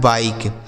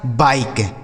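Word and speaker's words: bike: दिया हो, ठीक है, आई लिखने के बाद अगर एक अक्षर के बाद ई लिखा हो तो इस आई का उच्चारण हमें आई के रूप में ही करना है, यानी इसको आई ही पढ़ा जाएगा यहाँ पे। ठीक है, आई। जैसे बी से हो गया ब, इस आई का उच्चारण आई हो गया बाई, के ई से क, लिखा है बाइक, इसे क्या पढ़ा जाएगा, बाइक।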